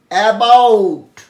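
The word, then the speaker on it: about: দেখো আরম্ভ করছি প্রথম অ্যাবাউট, অ্যাবাউট এর মধ্যে বলা দরকার এন্ডিং টিটা, লাস্টের টিটা শব্দের মধ্যে বেশিরভাগ ক্ষেত্রেই ঠ উচ্চারণ হয়, ট আর ঠয়ের মাঝামাঝি, এবং যেহেতু অনেকটাই ঠয়ের কাছাকাছি সেই জন্য আমি ঠ লিখেছি, ঠয় হসন্ত।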